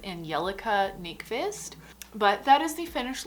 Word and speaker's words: Angelica Nyqvist: nice i realized that i totally said her name wrong before it is angelica nick fist but that is the